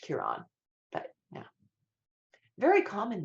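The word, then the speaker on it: Ciaran: looks up and then just says John's it's pronounced Kiran but yeah very common name in Ireland but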